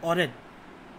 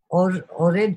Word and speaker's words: AURED: Ma'am, your organization, ORED. Yes. Or is that how it's pronounced, ORED, or am I getting it wrong? You're right. Right, ORED.